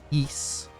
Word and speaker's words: Ys: RPG that is pronounced Ys.